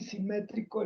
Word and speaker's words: simétrico: Es que simetría lleva acento en la I y simétrico en la E.